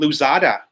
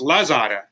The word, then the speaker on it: Lazada: We have something here called Luzada. Luzada. And I just got an order today. Oh, sorry, not Luzada. What am I saying? It's Lazada.